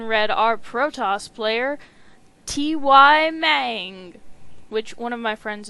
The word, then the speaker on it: Mang: And spawning on the bottom right side of the map, in red, our Protoss player, TY Mang, which one of my friends informs me is supposed to be pronounced man.